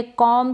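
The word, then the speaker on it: comb: यहां पर ये जो बी है ये साइलेंट रहेगा। ठीक है? बी का कॉम ब। ब प्रोनाउंस नहीं करेंगे। हम ब नहीं बोलेंगे। बी इसमें साइलेंट रहता है।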